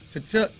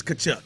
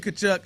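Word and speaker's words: Tkachuk: how you say it tachu I don't I think that Tia is kachuck you're right that Tia silent um it is Keith kachuck I believe he plays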